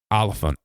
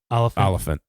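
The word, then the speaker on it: Olyphant: main character I like timoy yeah I can't pronounce his last name so say it yeah olant olant he's uh and the only reason I know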